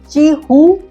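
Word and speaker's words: Qihoo: है इसका नाम है ची उ 360 हालांकि इसका स्पेलिंग है क्य आई ए ओओ 360 मगर इसको बोलते हैं ची हू 360 यह साइबर वॉर के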